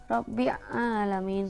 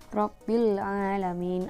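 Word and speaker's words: رَبِّ الْعَالَمِينَ: Nah, tidak Rabbil, bukan tidak Rabbi alamin, salah itu ya cara membacanya, tapi yang benar adalah Rabbil alamin.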